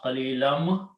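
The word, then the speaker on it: قليلا: So qalilan, and when you have a meme there, pronounce qalilam.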